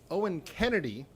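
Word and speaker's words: Oen Kennedy: got Owen Kennedy, which might be confusing to some of our regular Passim watchers, because there's another Owen Kennedy who's a singer-songwriter, but it's spelled differently. It's O-E-N, so don't be confused.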